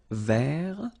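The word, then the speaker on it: vert: rou remember rou so masculine form don't pronounce the final T ver feminine form ver so listen carefully I don't say t but it's ver ver Okay so as usual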